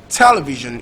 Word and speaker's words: television: Television is stressed on the first syllable. That's the only exception. So we haven't like these for television, or whether TE, whichever one, but it's still stressed first syllable that is stressed in television.